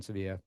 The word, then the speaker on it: Sevilla: But so I spent some time in Sevilla and uh or Seville, sorry, depending on how you pronounce it.